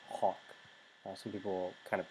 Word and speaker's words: hoc: nominative singular for neuter, which is a short O in Latin, which is like an aw sound, so it's hawk.